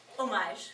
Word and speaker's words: homage: One of the reasons was because we wanted to pay homage, which is the French pronunciation, right?